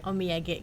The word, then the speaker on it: Omiyage: Iya, Omiyage Group. Beda ya pelafalannya. Omiyage itu artinya oleh-oleh. Oh gitu. Jadi kita namanya grup oleh-oleh gitu. Bahasa Jepang. Omiyage Group.